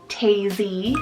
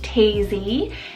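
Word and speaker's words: Taisie: So I have Tazy, spelled T-A-I-S-I-E, Tazy.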